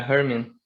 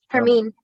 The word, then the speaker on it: Hermine: Lopez and his son is it pronounced how's his first name pronounced? Is it Herman? Yeah, Herman. Hermine. Hermine, okay.